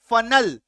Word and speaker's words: funnel: देखो FUNNEL, फनल, फन अ का sound आ रहा है, फनल, ठीक है, क्लियर है।